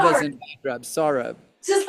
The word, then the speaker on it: Saurabh: And your name, we pronounce it Sarah. Sorry, I apologize. Saurabh. It's like Sarah, eh? sawing with a saw and rub as Sorry. in bad rub. Saurabh.